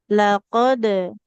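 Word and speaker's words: لقد: Dipantulkan huruf qofnya karena sukun. Laqad.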